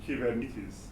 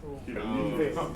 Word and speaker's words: Kubernetes: One thing that I'll tell you though, so you can see that Kubernetes it's a Greek word.